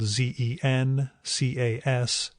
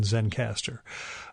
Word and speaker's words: Zencastr: That is spelled Zencastr, so no final E in Zencaster.